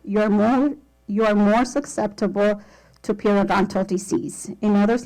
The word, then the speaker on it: periodontal: Periodontal.